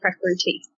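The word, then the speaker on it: prakriti: balance the doshes or the is it the precreity is that how you say it that's right there preparities yeah so there's three main doshas in ayurveda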